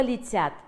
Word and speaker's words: летят: «Летят» – ударение падает на второй слог, поэтому первое гласное будет безударный. Слово «летят» имеет два слога – летят. А теперь давайте разберем звуки. Буква «Л» имеет звук «Л» – мягкий, поэтому он согласный, звонкий, мягкий, непарный. Первое гласное – безударное, поэтому слышится «И».